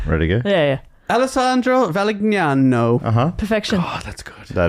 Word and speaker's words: Valignano: Because no, we're no, hitting the G and then the GN. Yeah, Valignano.